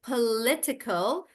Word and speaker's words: political: It gets bigger, I say political, and then I say politician.